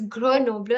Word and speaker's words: Grenoble: and I know that they pronounce it as Grenoble, and that is the reason I am telling you that ye iske syllables हैं, and so you have to pronounce it like this. Okay. It could have been Grenoble because you see that oh hai isme to, but then it's not.